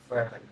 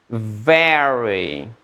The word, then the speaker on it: very: lumayan lagi very lagi ferry mah teman mis di s lagi smil lagi asik Oke, sudah ditangkap. Very, very very very Akil sekali lagi getarannya di bibirnya.